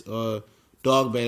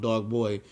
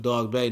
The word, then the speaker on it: Dogboe: And Dogboe was this Dogboe, that's what his name is pronounced. We was calling him Dogboe, but Dogboe, now he a world champion. You got to call him by his right name.